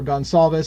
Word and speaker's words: Goncalves: Steve Goncalves, or Gonçalves as some people call it. Again, I think Portuguese pronounces Goncalves, but everybody else seems to call it Gonçalves, and so everybody busts my nuts no matter how I say it.